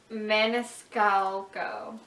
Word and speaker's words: Maniscalco: How do you pronounce her last name? Maniscalco.